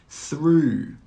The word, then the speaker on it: through: Through, through. Thorough, thorough. In all of these words, the GH is silent.